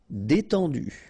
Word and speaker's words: détendu: Détendu. E accent aigu et and then en. En. Détendu.